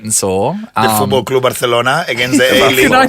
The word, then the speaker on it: Barcelona: do the cross because I was the only person in Channel 10 that could say Barcelona properly. Barcelona, Sean. It's almost Barcelona. When you're over there, if you don't say it properly like that, everyone gets angry because the Catalonians, that's the way they say it, don't they?